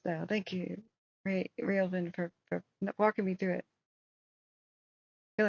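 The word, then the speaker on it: Joaquin: CH jakan jaka jaqua no it's Walkin okay like Walkin Phoenix no I know most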